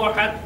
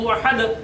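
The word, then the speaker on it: أحد: যদি আমরা কল্পনা না করি তাহলে উচ্চারণটা কেমন হবে? কুল হুয়াল্লাহু আহাদ। আর যদি কল্পনা করি তখন উচ্চারণ হবে কুল হুয়াল্লাহু আহাদ।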